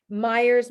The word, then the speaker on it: Maiers: Maiers, my last name, is not spelled how it sounds phonetically.